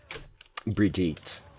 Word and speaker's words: Brigitte: Bridget's my new best friend now. Brigitte. Yeah. Like, anybody's actually gonna call her how it's meant to be pronounced.